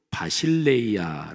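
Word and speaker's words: βασιλεία: 번째 단어 하나님 나라 헬라어로 바 실내 이야 라고 발음합니다 바실 a 않은 주권적인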